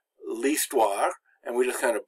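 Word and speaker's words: l'histoire: like this one so that's why it's not la history it's least wah and we just kind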